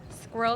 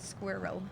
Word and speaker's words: squirrel: Squirrel is one of the hardest words to pronounce if you're German. That's funny. It's hard to say it in 2 syllables like she did. Squirrel for me.